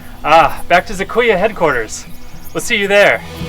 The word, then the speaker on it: Z2A HQ: Z2A HQ? Yeah, you pronounce it Zizkuya. Ah, back to Zakuya headquarters.